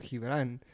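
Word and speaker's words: Gibrán: No, it's not, because the G in Spanish is pronounced like an H when it's followed by a vowel.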